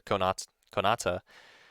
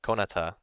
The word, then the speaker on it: Konata: One example of a lolly character using master in a cool way is in Lucky Star, where Konata, or Konata, I think it's pronounced, who in a specific scene is working